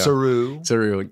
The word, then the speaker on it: Saru: Saru. Accent on the ooh. Yeah. Saru.